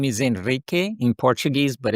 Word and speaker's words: Henrique: My real name is Enrique in Portuguese, but it's a little hard to pronounce.